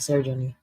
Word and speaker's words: Sojourner: Sojourner. Sojourner. Okay, that's how you say it, Sojourner.